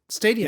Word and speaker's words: Stadia: to be a decent bit different than Google Stadia. I don't know. I always pronounce that wrong. Who cares? No, that's right. Stadia.